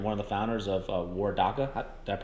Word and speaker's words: Waredaca: head brewer and one of the founders of war daca that pronounced that right yes you did or daca